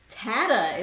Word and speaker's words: Tatta: With us today, live, is going to be John Tatta, is the right way to say it.